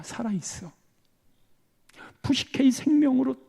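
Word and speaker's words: ψυχή: 두 가지로 나인다 그랬잖아요 하나가 푸시게 하나가 조회 발음 한번 해 봅시다 푸시케 푸시케 또 하나가 조회 조회 노차 이야기 한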